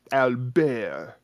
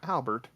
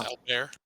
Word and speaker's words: Albert: a couple of friends France and Alber uh because you know that's how you say it not Albert he is albe is he a prince Al bear now psychic damage delivered